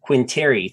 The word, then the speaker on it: Quintieri: he also has one of the largest finance and economics YouTube channels also called the money GPS quinteri thank you for joining me again thank you